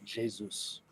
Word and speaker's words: Jesus: this a lot uh Jesus is Brazilian and the Portuguese Portuguese speaking people pronounce it Jesus Jesus okay Gabriel Jesus oh